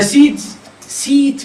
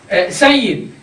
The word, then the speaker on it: Said: My first name is Said, and the easiest way to pronounce it is Sayyid. And in Pakistani cultures, they would utter it Seed.